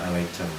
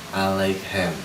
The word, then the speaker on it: Alechem: Saya ralat dulu untuk kosakata pengucapan itu bukan Alecem. Alechem.